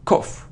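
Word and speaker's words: cough: chore no it's qu it isn't or Co it's cof cof cof it's it's like a sound o it's a short sound o o cof cof cof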